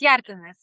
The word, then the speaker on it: Hjertenaes: her name, but Hjertenaes. Did I say it right? Yes, Hjertenaes. Close enough.